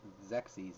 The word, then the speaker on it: Xerxes: I actually looked up how to pronounce it, Xerxes. I was just like, oh. Because I guess you're supposed to pronounce the Z at the end. And the I, or Y rather, is silent.